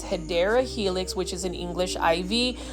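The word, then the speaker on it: Hedera helix: got to find this hedra helix or the correct way to say it is hadera Helix which is an English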